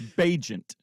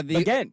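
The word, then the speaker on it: Bagent: There's no R. Then it's Bajent. No, it's not Bajent. Names can be pronounced weirdly no matter how they're spelled. I'm telling you, I just heard it. It's not Bajent. It's not Bajer.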